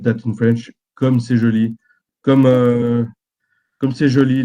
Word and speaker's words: comme c'est joli: So, this is you pronounce it comme c'est joli.